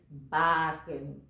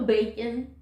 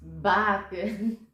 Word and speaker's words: Bakken: And for those who never know how to pronounce my name, it is Bakken. No bacon or no beacon, just Bakken.